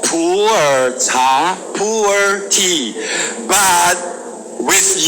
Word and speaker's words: pu'er: It is coming up in typical Chinese pronunciation, Mandarin pronunciation. It's called pu'er cha, pu'er tea. But with your typical intonation, it may become a poor tea.